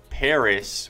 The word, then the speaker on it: PVRIS: And to all those people, you really thought I would call them PVRIS Paris with a V instead of an A.